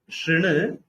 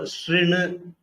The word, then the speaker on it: शृणु: So the vowel has to be pronounced R. That is, you keep your lips like when you say E, but you pronounce U. When you round your lips, you pronounce U. But here you try to pronounce U, but keep your lips wide by side, like in case of E. So it gives you R.